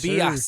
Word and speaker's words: Tobias: Tobias Harris. Did I say his name right? Yeah. Yes, you did. Tobias Harris, right? Yes, Tobias.